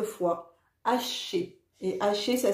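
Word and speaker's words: Ashé: Quand tu es prêt, remercie en prononçant 9 fois Haché. Et Haché, ça s'écrit A-S-H-E.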